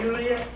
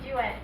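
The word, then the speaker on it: Duette: Your first name is Juliet? No, Duet. Juliet. Duet, as in the place here in Manatee, Duet. Duet. Spelled the same way, D-U-E-T-E.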